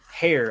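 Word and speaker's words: Herr: And like I said, that's Melissa Hare, I guess is how you say it. H-E-R-R. So.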